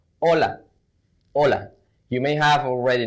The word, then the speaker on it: hola: That's because in Spanish the H doesn't have a sound.